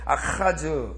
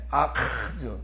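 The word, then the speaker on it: Ἀχάζ: 아하즈가 되기 때문에 헬라어로 표기할 때 아하즈 이렇게 된 거예요. 아카즈. 그러니까 아카즈가 아니라 카는 카파고요. 발음할 때. 아카즈. 다 같이 아카즈. 목 안에를 떨어주시라고.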